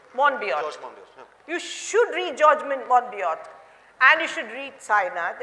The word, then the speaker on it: Monbiot: There is a person called, I don't know how to pronounce his name, M-O-N-B-I-O-T. Monbiot. You should read George Monbiot, and you should read Sainath, and you should read people who are well-versed with figures.